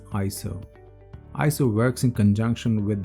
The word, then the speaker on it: ISO: introduce you to iso it is properly pronounced as iso iso works in conjunction